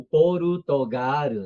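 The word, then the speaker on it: ポルトガル: Ou português, que fosse o porutogaro, né?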